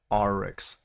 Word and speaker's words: Aurochs: It's pronounced oryx, like ah.